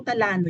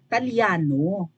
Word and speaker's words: Italiano: of mispronouncing things but hindi po tano yun italyano and for a vlogger to sound Smart and credible dapat ayusin niya yung pronunciation nung apilyedo ang alam ko po ang italyano ay apilyedo right tagean italyano hindi tano eh italyano pag binabago niya mawawalan